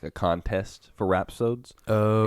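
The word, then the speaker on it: rhapsode: ion is a is it called is it pronounced rap sod it is rap sod I looked it up awesome and my brain I was reading it as Rap City and I kept saying Beman Rap City and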